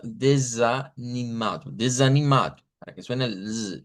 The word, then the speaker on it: desanimado: Ah, cambiando pues obviamente en desanimado la U y la s, que no es desa, sino desanimado.